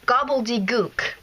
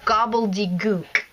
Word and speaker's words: Gobbledygook: And it's pronounced Gobbledygook. I know it sounds strange, but that's how it's pronounced. So Gobbledygook.